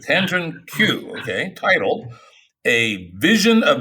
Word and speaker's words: Kanjun Qiu: Is that how you pronounce that? Kanjun Qiu. Kanjun Qiu, okay, titled A Vision of Metascience, an Engine of Improvement for the Social Processes of Science.